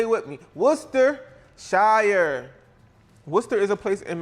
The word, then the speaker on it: Worcestershire: How do you pronounce that? They be like Worcestershire sauce. No, ho. It's Worcestershire. Worcestershire. Say it with me. Worcestershire.